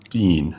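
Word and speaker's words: دين: Joseph mentions this in his his uh chapter on the Quran and translation and that's the word din. Is that how it's pronounced? Dean.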